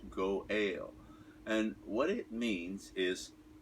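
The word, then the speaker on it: גואל: redeemer say that kinsman redeemer in hebrew it's pronounced go ale and what it means is if my father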